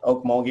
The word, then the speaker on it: Okmulgee: how do you say that in Oklahoma Mogi Okmulgee Oklahoma oh okay oh gee Oklahoma okay he